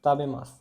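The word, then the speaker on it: たべます: be, ta be, mas, tabe mas. This is pronounced as tabe mas.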